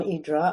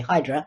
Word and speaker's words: Hydra: Hydra, first of all, when you live there, it's called Hydra, which is the Greek pronunciation. That differentiates us from the tourists, because the tourists always say Hydra.